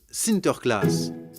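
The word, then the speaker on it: Sinterklaas: aux enfants aux pays bas saint nicolas se prononcent sinter klaas et lorsque les néerlandais traverse l'atlantique au xviie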